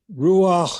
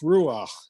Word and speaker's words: ruach: but that the in ruach is a guttural sound and i was just